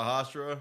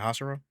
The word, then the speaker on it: Hashira: Especially all the Hashira.